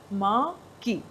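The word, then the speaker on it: marquee: these आर antonyms माकी इसको pronounce कैसे करेंगे माकी ठीक है नाउ द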